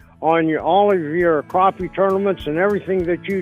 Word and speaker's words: crappie: he said crap yeah he said crappie he keeps calling it crappie you know yeah I love it whitey even out cuz I got friends and we've had arguments about how to pronounce that word you know and I and I'm folks you you've just won fans all over the mid-south whitey more you have because you've got it nailed down hey guys thank you